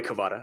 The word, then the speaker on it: Kvaratskhelia: say his name, Kavicha Kvaratskhelia. Just Kvara. Just Kvara. He made it easy for all of us. He told us the proper pronunciation and then says, I go by Kvara.